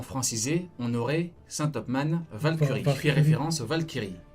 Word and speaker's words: Valkyrie: Warcurie se prononce Valkyrie. Valkyrie, Valkyrie.